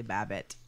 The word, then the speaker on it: Babbitt: oh you're welcome people charlie babbitt yes rhymes with rabbit i like how you